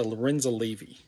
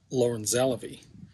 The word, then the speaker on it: Lorenza Levy: first i learned that it was named after lorenza levy not lauren zalavy and the second thing i learned was that it's not pronounced lauren zellerby so i wondered who is this lorenzo levy